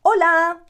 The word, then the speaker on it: hola: say a lot buenas remember that the h is silent it's not there so we're never going to pronounce the h in hola it rhymes with lola